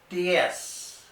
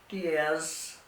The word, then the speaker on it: diez: Diez. There is no Z sound in Spanish. Z's are pronounced like in English S. So it's not diez, it's diez for 10.